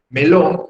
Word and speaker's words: melón: Pero melón, mis estimados alumnos, es aguda. Porque la sílaba fuerte es lón, por algo lleva la tilde.